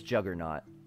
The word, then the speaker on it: juggernaut: People say Juggernaut? See, I've always said it Juggernaut. I'm not saying that's correct, but it's spelled like J-A-U, isn't it? Isn't it? Now I need to see how Juggernaut is spelled. Iron. Oh yeah, it doesn't have an A in it. It is Juggernaut.